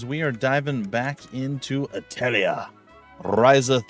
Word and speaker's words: Atelier: and the secret key or atlier ryza 3 if you prefer to go with that allegedly incorrect uh pronunciation but I do vaguely remember one of the voice actresses at some point when they were uh doing one of the earlier games uh actually saying that so six of one